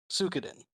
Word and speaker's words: Suikoden: Yeah, I'm going with, I can't remember how to pronounce it. Suikoden. Suikoden.